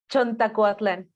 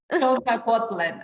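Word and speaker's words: Chontacuatlán: Teach me again, please, how to pronounce it. Chontacuatlan. Chontacuatlan.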